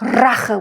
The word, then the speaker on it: Rache: So you can actually roll when there is an intensity, like Rache, which means like rage, right? It's vengeance. Then you want to bring out that intensity by rolling the R, okay?